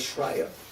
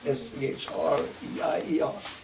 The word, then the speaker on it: Schreier: Their name was Schreier. S-C-H-R-E-I-E-R.